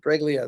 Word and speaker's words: Treglia: That's the right pronunciation? Treglia, that's the way you pronounce it when you speak English.